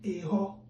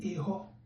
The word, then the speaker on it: Eho: The first letter E that is not having a diacritic, you pronounce it as A, as in Eho.